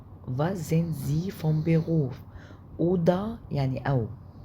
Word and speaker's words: oder: oder يعني أو O D A A O D اللي هي O D E R oder، بس مش هننطق الار، هتبقى اوضة يعني او.